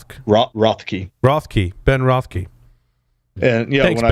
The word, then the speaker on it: Rothke: How do you pronounce Ben's last name? Rothke.